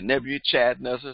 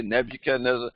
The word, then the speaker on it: Nebuchadnezzar: could not pronounce Nebuchadnezzar some will say never you Chad Nessa someone say Nebuchadnezzar some wouldn't say couldn't say and so they nicknamed